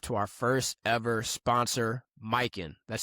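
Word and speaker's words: Mykyn: We want to show some love to our first ever sponsor, Mike. That's spelled M Y K Y N. Mikin is a high-end luxury eyewear brand focused on quality, craftsmanship, and timeless style.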